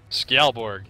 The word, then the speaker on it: Skjaldborg: Skjaldborg.